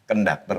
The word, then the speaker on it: konduktor: Kondukter ya. Heeh. Sejak jane ngomongnya kondukter apa konduktor opo? Konduktor itu tulisane. Tulis tulisane. Tapi lafalnya konduktor. Konduktor kan ejaan Indonesia pun juga konduktor kan kaka kan pak.